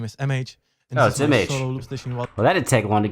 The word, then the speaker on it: M-Age: it image like image image my name is mh that didn't take long to get a clear